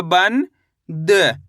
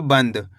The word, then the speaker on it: बंद: बम अनुस्वार की मात्रा बन द तो मिलके बन जाएगा बंद। कैसे पढ़ेंगे? बंद। ऐसे नहीं पढ़ना है। बनद। कैसे पढ़ेंगे? बंद। यानी कि न का उच्चारण तेजी के साथ निकालना है।